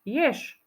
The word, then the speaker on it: jež: na konci tohto slovíčka je napísané písmenko ž ktoré sa vyslovuje ináč Však Počul si tam ž je ž No nepočul Ja som to vyslovila ináč ješ na konci počujeme š ž písmenko ž spoluhláska